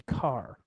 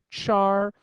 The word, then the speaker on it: char: 16bit long data type called a car otherwise pronounced Char that's open for debate I'm more of a car kind of a guy don't know why but